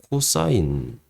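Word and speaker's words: cos: 세타를 이렇게 씁니다 자 신이라고 읽지 않고 사인이라고 읽습니다 사인 코스라고 안 읽고 코사인 잠만요 코사인 그리고 탄이 아니고 탄젠트음 그래서이 직각이 여기 있다고 칠게요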